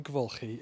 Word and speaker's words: Dwygyfylchi: So the name for Devulki is one of those names that gives a